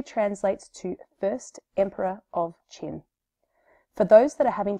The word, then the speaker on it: Qin: His name literally translates to First Emperor of Qin. For those that are having trouble remembering how to pronounce it, think about the chin on our faces and you've got it pretty close. So, Qin was born in 259